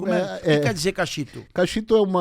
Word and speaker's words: Kaxitu: Mas a pronúncia certa é Cachito.